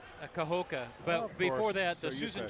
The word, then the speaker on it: Kahoka: How do you pronounce that? Kahoka.